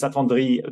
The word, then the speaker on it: s'attendrit: Because s'attendrit, the T is silent, it just ends with E.